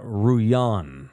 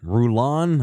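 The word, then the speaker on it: Rullan: her name is Adriana Ruan Ruan I probably don't pronounce the L's r u l l a n Ruan Ruan Adriana Ruan according to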